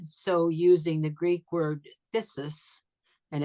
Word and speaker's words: phthisis: And he did so using the Greek word phthisis, and it's spelled Phthis. The PH is silent, so it's phthisis.